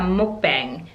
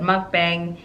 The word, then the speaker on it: mukbang: going to do a mukbang many people pronounce this at mukbang it doesn't matter there's a lot if